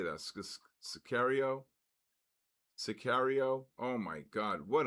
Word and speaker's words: Sicario: Scario serial.